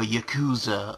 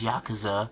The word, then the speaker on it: Yakuza: Oh, speaking of Yakuza, or Yakuza, or however you want to pronounce it, I pronounce it as Yakuza, even though it's not. It's Yakuza.